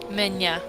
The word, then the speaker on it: меня: Меня. Pronounce it more like ня.